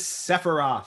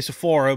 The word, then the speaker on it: Sephiroth: And I don't know how to pronounce his name. His name is Sephiroth. Sephiroth. I was going to say Sephora, but no, I know Sephiroth.